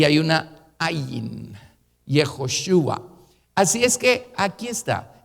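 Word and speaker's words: יְהוֹשֻׁעַ: el nombre hebreo es yehoshúa jehová salvación se los voy a escribir fonéticamente hijo su a la última letra no se pronuncia pero no es una h tampoco así es que dejémoslo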